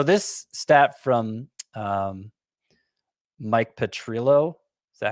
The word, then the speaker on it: Petriello: what happened so this stat from um mike petrillo is that how you say his name i think it's petriello petriello thank you miami has now scored three